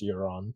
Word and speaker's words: Euron: according to Game of Thrones wiki it is pronounced euron so it is yeah cool I'm glad I